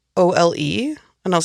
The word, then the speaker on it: Ole: It's spelled O-L-E. And I was like, his name is Ole? Yes. Well, they pronounce it Ole, though.